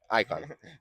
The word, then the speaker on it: AIKON: Icon.